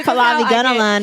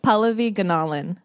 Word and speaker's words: Pallavi Gunalan: it up I always say Fulani gentleman and I'm always wrong it's can you say it correctly cuz I'm gonna butcher it Paula vegan Alan oh it's gonna polish all of these anomalies